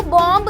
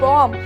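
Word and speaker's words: bomb: तो वो बॉम्ब नहीं होता है, वो होता है बॉम्ब, that is BOM, बॉम्ब।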